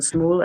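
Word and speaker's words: Smule: people I don't know if you know the Smoo app, the karaoke app online.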